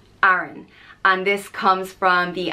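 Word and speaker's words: Aran: and I love it it's spelled a-r-a-n and it's pronounced ah run Aaron and this comes from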